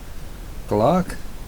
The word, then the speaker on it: Clarke: примеру такое имя имеет Как правильно произносится на английском клак типа тако и так